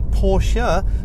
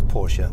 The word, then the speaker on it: Porsche: let out through an additional duct the correct pronunciation of this car is actually porsche not porsche even though i might refer to either in